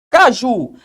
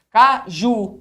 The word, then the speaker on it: caju: Caju. Caju. Onde está a sílaba tônica? Caju. Na última sílaba.